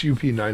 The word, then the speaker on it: Up9: What's UP9 about? And I pronounce it Up9, but am I wrong?